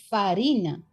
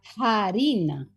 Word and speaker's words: harina: En latín la palabra farina, hm, escrita con f. En español se escribió farina durante muchísimos siglos, pero en español no se pronunciaba farina, se pronunciaba harina.